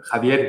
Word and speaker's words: Javier: My mom is Swiss and gave me a French name, Xavier, and my father is Spanish, so Javier with a J. So you can pronounce each way. Either It's or, either or. And are you in Saint-Imier today?